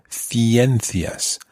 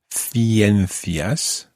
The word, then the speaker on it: ciencias: So if you look at the word, or if you imagine the word, ciencias, that would be spelled C-I-E-N-C-I-A-S. Ciencias. Ciencias would be sciences. In Latin America, it would be pronounced ciencias.